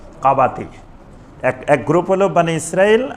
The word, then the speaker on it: কাবাতি: মারল আরেক আরেকটা লোক কিপতি মানে ওটার নাম ছিল কাবাতি ওটাকে এমনে কিপতি বলা হয় কিন্তু মূল উচ্চারণ হল কাবাতি এক গ্রুপ হল বানি